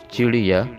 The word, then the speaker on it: چڑیا: اوپر پیش ہے، جبکہ صحیح طریقے سے جو اس کا تلفظ ہے وہ چے کے نیچے زیر کا استعمال ہوگا اور اس کو چڑیا پڑھا جائے۔ عزیز دوستو،